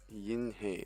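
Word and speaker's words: 银河: So Yin He, it doesn't rhyme.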